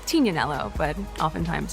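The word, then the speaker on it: Tignanello: The name the TIG comes from a wine called Tinanelo, but often times it's mispronounced Tiganelloo.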